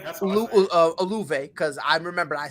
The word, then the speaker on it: Olave: Olave. Yeah, Olave. That's Olave, because I remember I say it wrong to spite y'all.